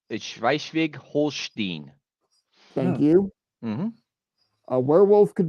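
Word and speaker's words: Schleswig-Holstein: the German lowland of schwi Swig Holstein I butchered that I know I speak a little bit of German it's shig holin thank you where wolf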